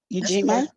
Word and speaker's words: Ujima: will take number three ujima I'm not sure I'm pronouncing it correctly yes that's correct eugima Collective work and responsibility